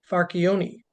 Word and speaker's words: Farchione: Farchione from Boston, Massachusetts.